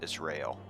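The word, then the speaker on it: Raubahn: It's Rail. And an O.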